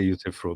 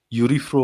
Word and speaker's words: Euthyphro: Yeah, I don't know what he says, but he doesn't say Euthyphro, basically, right? How does he And I pronounce said, it? come on, how long have you been studying philosophy for? Yeah, Anyway, how does he pronounce it? I totally forgot. He pronounced it something very weirdly. I mean, if you listen to it, you'll just catch it in a very Okay. Eurifro or something like that.